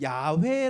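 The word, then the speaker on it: Yahweh: 밑에 자모음을 붙혀 가지고 근데 이거를 뭐 지금 야외 라는 이름으로 써 있잖아요 그쵸 야외에도 정확한 발음이 아니에요 어떤 사람은 야외에 어떤 사람이야 왜 우리말로 여호와 그 다음에 예 호 바보 이렇게 막 다 발음 일을 하는데 그 어떤 것도 정확한 발음은 아닙니다 하나님의 이름을 감히 인간이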